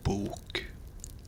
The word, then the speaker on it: bok: It's bok, but you can hear the difference in how it's pronounced. Book, bok, bok, bok, bok.